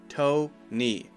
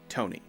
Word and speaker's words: Tony: by the way Tony toe knee just like toe and just like knee Tony the next one is